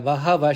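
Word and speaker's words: बहवः: Bahavaha, it's pronounced as Bahava because Bahavaha is appearing within the pada. Shuraha, it has to be pronounced Shuraha because it is appearing at the end of the pada.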